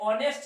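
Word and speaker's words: honest: नहीं है वोल है दूसरा आय ये ऑनेस्ट है देखिए लिखे क्या है एच ओ एन ई एस टी पढ़ेंगे नेस्ट पढ़ेंगे रंग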